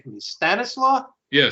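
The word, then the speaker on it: Stanisław: And the point was that Zabisco, pronounce his first name for me, Stanislaw? Yeah, Stanislaus.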